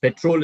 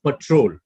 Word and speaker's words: patrol: the second word petrol petrol is the pronunciation of the second word the first one is the word is pronounced as patrol patrol yes that's the difference to patrol an area